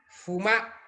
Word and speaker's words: fumar: Fumar. Fumar. Recuerden que la vocal es abierta, no fumar. Fumar.